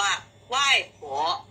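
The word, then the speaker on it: 外婆: เหล่า เล้า นะ คะ ส่วน คน จีน ทาง ตอน ใต้ เรียก ว่า ไหว้ ผัว คำ ว่า ัว ออก เสียง โฮ อ๋อ นะ คะ แต่ เรา รวบ เข้า มา นะ คะ เรา ออก เสียง ช้า ๆ แบบ นี้ ไม่ ได้ นะ คะ ต้อง พูด ให้ เร็ว ๆ นะ คะ ัว ไหว้ ผัว ไห้ ผัว ไหว้ ผัว ก็ คือ คุณ ยาย แต่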